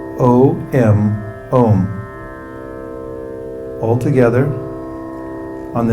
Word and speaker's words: Om: This mantra is spelled O-M, Om.